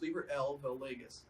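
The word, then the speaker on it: Liber AL vel Legis: valegas it's spelled liber a l but it's pronounced libra l vale legis and it's also known as the book of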